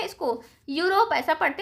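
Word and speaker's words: Europe: यूरोप।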